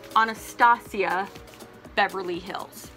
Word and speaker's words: Anastasia Beverly Hills: where is the H in Anastacio it is Anastasia Beverly Hills okay that is how it's pronounced whether you're from England America Africa Ireland